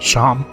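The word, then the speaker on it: Seam: to do about yourself my name's pronounced Sean and this is my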